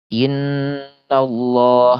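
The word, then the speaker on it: إن الله: Contohnya innallah misal innallah kan ini huruf nun ini dia gunah musyaddadah ya, gunah yang paling ee kadar tekannya itu paling tinggi gitu ya.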